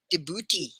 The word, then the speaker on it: Djibouti: Djibouti.